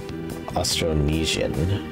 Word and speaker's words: Austronesian: word before uh aonian it's pronounced like Indonesian or Polynesian okay austronesian I see cool cool